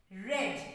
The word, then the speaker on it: read: same here but the pronunciation is different red in past tense even in past participle it is red am i clear okay